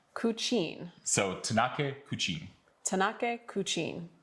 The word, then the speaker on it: Kučin: And then the second word is the word for bird, Kučin. Kučin.